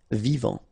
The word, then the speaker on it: vivant: Final T not pronounced. Vivant.